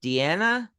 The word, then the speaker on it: Diana: Deanna? Do you say it like that? Instead of Yes. Diana, it's like Deanna?